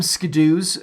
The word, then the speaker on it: Skidoos: I pronounce them Skidoos, but it's a generified version of the brand's